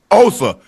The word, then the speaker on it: Osa: Did I pronounce that right? Osa. Osa.